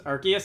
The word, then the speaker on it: Arceus: out of the way I'm like 95 sure that the Canon pronunciation is Arceus is an arc but I think Arceus sounds better so I'm gonna go with that now I wish to